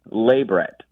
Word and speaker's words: labret: let me practice it labret laet yeah stress on the first syllable La labret wow and it